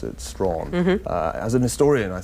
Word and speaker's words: Strachan: although he's a rather anglicized Scot so he pronounces it strong okay as an historian I think he said